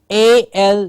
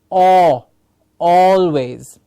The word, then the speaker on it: always: s always yes or what is happening here is sometimes we have the r sound and we hear people call it always yes we have people calling it al it's not al it is or always these are some things